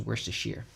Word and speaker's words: Worcestershire: Oh yeah, it's like that thing where it's like Worcestershire, and it's literally like I got all those letters just to be pronounced Worcestershire.